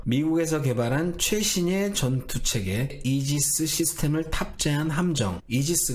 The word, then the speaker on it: 이지스: 방패를 만드는데 여기에서 토막상식 ar 기술을 영어 식으로 발음하면 바로 이 짓습니다 이지 사람 들어보셨죠 미국에서 개발한 최신의 전투 책의 이지스 시스템을 탑재한 함정 이지스 가 바로 여기에서 이름을